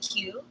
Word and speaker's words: Kieu: in yc yeah so my name is uh in our title there's pronounced queue yeah i like what